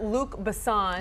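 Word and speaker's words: Luc Besson: that it has okay and so the director Luke bassan that's him that's how you say it yes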